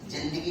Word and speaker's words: जिंदगी: जो अर्ज किया है कि जिंदगी के सफर में हम लोग साथ साथ चलेंगे, देखो प्रोनाउंसिएशन बहुत इंपॉर्टेंट, जिंदगी नहीं, जिंदगी, जिंदगी।